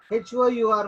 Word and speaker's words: hour: So ikkada HOUR mundu em vastundi article? ఏ ఆర్టికలా an ఆర్టికలా? జనరల్గా మనం AEIOU లోది కాబట్టి AEIOU లేదు కాబట్టి ఏ ఆర్టికల్ అని రాసి వస్తాం ఇక్కడ. It's absolutely wrong because H is silent.